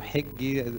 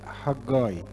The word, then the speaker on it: حجاي: منياحة، والنهاردة نبتدي في سفر حجاي أو حجي، يعني هو حجاي يعني النطق الصحيح ليه، ومعناه عيدي يعني العيد بتاعي أو المفعم فرحة المليان بهجة.